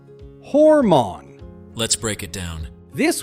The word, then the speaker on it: hormone: Start with hor, like the word more with an H, and finish with mon. Together, hormone. Now let's practice 3 times together. Ready? Hormone.